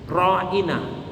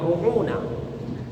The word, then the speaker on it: ra'ina: Nah, orang-orang Yahudi biasa mengucapkan kepada Nabi ra'ina, tapi lidahnya itu dibengkokkan sehingga kedengarannya bukan mengucapkan ra'ina, tapi apa? Ru'una.